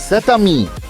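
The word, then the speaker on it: cet ami: كان الاسم بيبدأ بحرف متحرك عشان نتجنب صعوبة النطق في اللغة عند تلاقي حرفين متحركين مع بعض. زي ساتامي.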